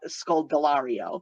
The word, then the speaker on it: Scodelario: Dylan O'Brien and Caius called scold delario that's how you pronounce her last name very tough name to